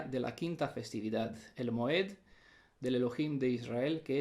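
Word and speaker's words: מועד: presenta, que se vocaliza, se pronuncia Moad en el plural, Moed en singular.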